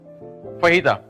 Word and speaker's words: fajita: फहीदा, इसको कुछ लोग प्रोनाउंस फजीता करते हैं पाकिस्तान में। अगेन नथिंग रॉन्ग, क्योंकि हमारा ये चीज नहीं है, मैक्सिकन वर्ड स्पेनिश।